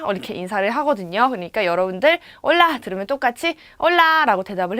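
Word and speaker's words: Hola: 같아요 얼라 이렇게 있죠 올라 왜냐구요 아예 앞에 이는 아체 라고 하는 이 알파벳이 묵음 이기 때문에 얼라 올라 이렇게 인사를 해 주면 됩니다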